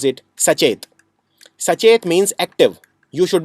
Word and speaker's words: Sachet: Reserve Bank of India has launched a website which is called, in Hindi you can pronounce it Sachet.